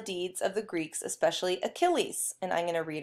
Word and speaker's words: Achilles: so we'll talk about achilles that's how you spell it's the it's very greek looking with the ch pronounced as a k okay so it's about achilles the greatest of all